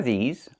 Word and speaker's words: these: Make sure you make the long E sound like green beans. These. Plus the Z sound like in zebra and zipper. Z with a voice.